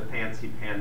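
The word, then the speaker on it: Fansipan: can see in the back those are the fancy pan mountains and they're spelled if you look in the literature sometimes it's spelled f-a-n-s-i-p-a-n sometimes it's spelled p-h-a-n x-i p-a-n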